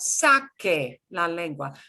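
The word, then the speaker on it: saque: would sound like sasse c e is s s the s sound so in order to get back to a k sound i have to make it a q-u-e okay so sake la language b stick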